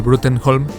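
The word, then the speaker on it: Bruttenholm: el profesor Malcolm Frost Trevor bruten holm que Aparentemente se pronuncia brom y que no es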